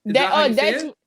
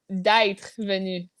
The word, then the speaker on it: d'être: D'être. No, d'être venu.